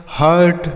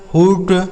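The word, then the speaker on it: hurt: तो यू के साथ अगर आर लिखा होगा तो यू का उच्चारण केवल और केवल आ के रूप में हो जाएगा, ठीक। जैसे curd, burn, turn, हर्ट, Nernst. इसे इस तरीके से कूड, टूर्न, हुट, नूर्स ऐसा बिल्कुल नहीं पढ़ेंगे, गलत उच्चारण हो जाएगा, ठीक है।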